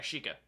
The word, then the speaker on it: Sheikah: It's spelled I-E, right? S-H-I-E-K-A-H? S-H-E-I-K-A-H. Yeah, a shika.